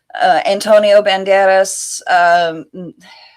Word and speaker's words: Antonio Banderas: Antonio Banderas, they chose him simply for his name and recognition Okay, then purposes. just say his name again. Why? Because I roll my R's.